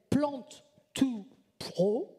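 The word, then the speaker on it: Plant2Pro: parce que, qui s'appelle Plant2 Pro. Ça s'écrit P-L-A-N-T, 2 P-R-O. Ça veut dire de la plante aux professionnels. Le to, c'est pour T-O en anglais. Mais bon, c'est écrit comme ça.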